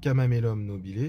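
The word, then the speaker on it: Chamaemelum nobile: D'ailleurs, j'ava pas donné le nom botanique, c'est kamamél nobilé. Ça s'écrit chama nobilé.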